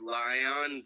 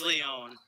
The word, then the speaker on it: Leon: Well, thing is, he's Lion, but with res and no defense. I thought it was Leon. Fuck. It is Leon.